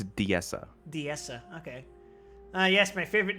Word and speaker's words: Diessa: How the hell do you pronounce that? Disa Plateau? Disa Plateau? I believe it's Diessa.